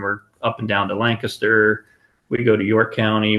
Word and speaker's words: Lancaster: So for anybody who's listening to this outside of PA and you're like, oh, it's Lancaster. It's like, no, it's Lancaster. What Danny said was the correct pronunciation.